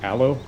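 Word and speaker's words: Ålö: I did put the I believe it's pronounced allo I did put the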